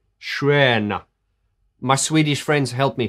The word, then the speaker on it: Stjärna: And it's written as Stjärna, but apparently it's pronounced, help me, Schwerna. Schrena.